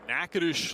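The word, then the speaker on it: Natchitoches: in Louisiana in Nacades, Louisiana. That is correct. Probably one of the most mispronounced college city names you'll ever see because the spelling is nothing like the pronunciation.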